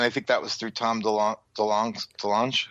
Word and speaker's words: Tom DeLonge: And I think that was through Tom DeLonge.